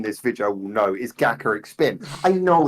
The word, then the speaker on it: Gacharic Spin: It comes from gacha as in like the gachapon machines, so it's Gacharic Spin, which makes sense as well for the spelling.